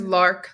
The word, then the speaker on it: Lark: Like Mark is Lark, like Mark. Lark.